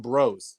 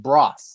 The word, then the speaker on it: Bros: but it's actually pronounced broth like let's say you're gonna go shopping at ross just put a b in front of it broth yep that's what that's